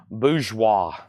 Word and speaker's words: bourgeois: Bourgeois.